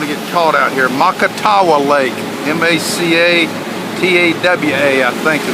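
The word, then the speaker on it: Macatawa: Makatawa Lake, M-A-C-A-T-A-W-A, I think is the way you spell it.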